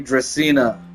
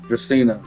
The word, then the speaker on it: Dracena: Oh, so I said her name wrong. Lady Dracena. Dracena.